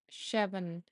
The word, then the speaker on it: Siobhan: Siobhan says it's pronounced Shevan. Okay, Shevan.